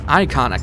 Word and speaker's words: Ikana: as well is that some people pronounce the Ikana Canyon as Icona Canyon. And there's interesting wordplay with that because it could sound like the word iconoclast, which defines as a person who destroys religious beliefs or images.